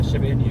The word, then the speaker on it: Shiba Inu: They look like little Shiba Inu. Is that how you pronounce it? Yeah, Shiba Inu, yes.